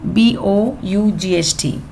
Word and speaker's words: bought: oil then he now this word b o u g h t JH there's no sound so it's bought some foil then he